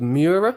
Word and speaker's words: Mura: Mura?